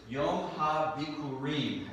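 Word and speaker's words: יום הביכורים: Yom HaBikurim is how you say it in Hebrew.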